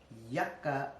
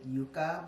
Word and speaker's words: Yucca: to refilm this because I pronounced this Yuka because you know I'm from Spanish descent so I saw it and I immediately thought oh it's a Yuka it's not the Yuka it's a yucca totally different plant we